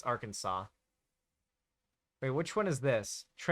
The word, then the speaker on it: Arkansas: You mispronounced Arkansas? It's Arkansas.